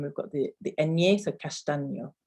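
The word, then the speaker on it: castaño: at the end we've got the the ennea castano castano um so yeah just a couple couple more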